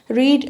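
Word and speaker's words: read: Cost ही रहती है, कट हिट hit, hurt, put, रीड रेड। इसको हम पढ़ते रेड हैं, लेकिन ये लिखा ये उसी तरह से जाता है, स्पेलिंग इसकी सेम रहती है।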